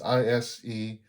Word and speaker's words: Isekai: is uh akisa wait i don't know how to pronounce it isakai or isakai probably isakai it's i-s-e-k-a-i so it's probably isekai because it's yeah the